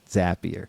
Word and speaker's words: Zapier: Couldn't have done it without Zapier. We all know how to pronounce it now too, at least. Yeah, makes you happier. Yeah, couldn't have done it. So I don't know. Zapier makes you happier.